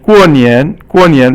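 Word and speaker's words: 过年: And 过年 right now Chinese people are celebrating Chinese New Year. So 过 is fourth tone, and 年 is 轻声 here, but 年 is usually 二声.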